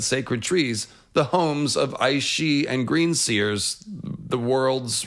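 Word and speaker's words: Aos Sí: The point is, Gaelic pronunciations look pretty weird to most other English speakers, but yeah, that's how you say it, she.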